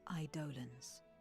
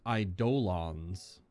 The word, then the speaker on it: Eidolon: So Eidolon is how I've always heard it pronounced. An Eidolon or a primal or a summon. That's what John was asking about earlier in chat. But she pronounced it Eidolons. Hard D-O.